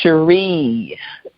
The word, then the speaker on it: Shari: your first name again it's Sheree yeah kind like Stevie how was he pronouncing